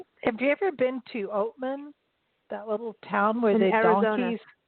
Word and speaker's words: Oatman: It's Oatman. Like oats, Oatman.